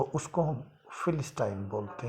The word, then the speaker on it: philistine: से कोई ताल्लुकात नहीं रखता, तो उसको हम फिलिस्टाइन बोलते हैं। स्पेलिंग है PHILISTINE, फिलिस्टाइन।